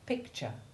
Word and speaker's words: picture: you say those words remember that the unstressed t-u-r-e combination in words like culture and picture makes the soft ch1 sound followed by the short u2 iv sound the sound of the